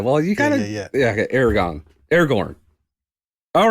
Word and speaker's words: Aragorn: Is Aragorn or Aragon the right way to say it? Aragorn.